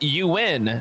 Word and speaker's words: Ewan: Ewan is pronounced you win. So, you win.